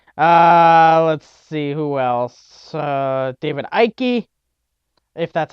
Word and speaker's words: Icke: David Icke, if that's how you pronounce it. I believe it's Icke.